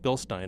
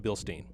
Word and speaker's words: Bilstein: quality Bilstein shock and that is the correct way to say it bill Stein not bilstein I mean my technical I'll jar get out of it so it's a bill Stein shock and what it is